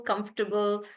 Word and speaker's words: comfortable: Even in comfortable in the word comfortable there is no table. So it's not comfortable. So in vegetable there is no table. In comfortable there is no table. So they are supposed to be pronounced as vegetable, comfortable, uncomfortable like that.